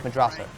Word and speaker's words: Madrazo: He's hiding in this house that happens to be owned by Martin Madrazo, which is no, it's Madrazo, who is a gangster, which starts all the shenanigans where Michael has to pay back a debt to Madrazo, whatever.